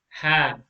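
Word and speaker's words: ه: in box number 26 this is like a normal h ha ha no pressure at all have the letter ha is pronounced from the bottom part of the throat say ha ha ha okay there should be no pressure at all a very easy letter to pronounce the next letter is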